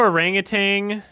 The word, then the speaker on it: orangutan: It's weird how orangutan, I think of it with a G at the end, but there is no G.